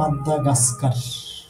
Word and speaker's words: Madagascar: উচ্চারণটা হচ্ছে যে মাদাগাস্কার।